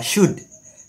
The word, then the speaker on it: should: tapi kalau seperti ini kita bacanya cut ya l-nya tidak dibaca karena l-nya ini dalam bahasa Inggris disebut Alif Lam Qomariah ya Eh alif lam syamsiah jadi ada tapi tidak dibaca maka cara bacanya adalah Cut Oke kita lanjut setelah